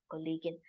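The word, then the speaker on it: Kollegin: Kagan Natalia kovalski collean in English we know we say it is colleague but in German it is collean you will see most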